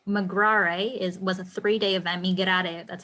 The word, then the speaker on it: Migrare: Migrare, that's how you pronounce it in Spanish.